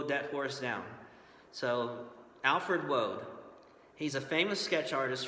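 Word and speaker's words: Waud: we have this fella looks like it's Alfred wad just kind of a tongue twister there but it's actually pronounced Road believe it or not like you're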